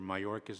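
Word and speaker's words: Mayorkas: right it is Mr it's Mr mayorcas and I come from a long line of bad spellers it's Spanish name Spanish all right then I stand even more corrected uh Mr mayorcas let me make make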